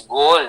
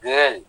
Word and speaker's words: goal: My long-term goal is Yes, it is goal, not girl.